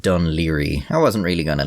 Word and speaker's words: Dún Laoghaire: By the way, this is pronounced Dunleary.